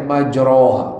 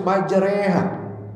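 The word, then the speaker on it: مجراها: Imalah seperti bacanya majroha tapi dibacanya harus majreha. Nah, itu harus tahu berarti kalau kita enggak tahu ilmu salah semua salahnya.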